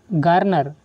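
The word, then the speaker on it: garner: बात करेंगे अगले वर्ड की गार्नर। गार्नर या फिर गानर, इसको दोनों तरह से प्रोनाउंस किया जा सकता है, गार्नर या फिर गानर।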